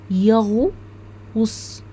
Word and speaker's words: يغوص: بننطقه في نفس واحد زي كلمه يغوص شايفين قلنا يغو وص يغو غو قلنا غو مش قلنا غا و صا لا مش قلناها كده قلنا يا غو غو الغين والواو ويغوص والصاد طيب كلمه